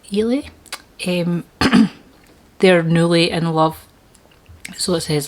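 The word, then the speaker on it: Eily: But basically they're Stephen and Ely, I think that's how you say it, E-I-L-Y, Ely.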